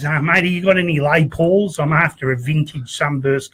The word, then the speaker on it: Les Paul: A Les Paul. The S is silent, you know.